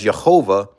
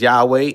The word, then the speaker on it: Yahweh: into the Bible until William Tyndale mispronounced the Yud He Wav He as Jehovah, and then he put the J in front of it because, again, they don't pronounce Y. They pronounce Y as J and J as Y, which the name Jehovah was created. But for us, it's Yahweh, and then the Son of